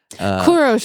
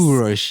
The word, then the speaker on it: Kurush: Kuros is the proper way to say Cyrus. Kurush. Yeah, thank you.